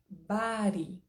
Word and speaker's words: body: b d y Ok a pronúncia americana estar dentro dos Estados Unidos principalmente Califórnia e região por ali Bari b a r i se nós fôssemos escrever em português Como se pronuncia Bari Ok mas olha a